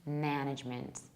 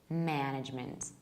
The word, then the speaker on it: management: and in American accent management management and how to remember is imagine a word with a very clear stress on the first syllable it can be a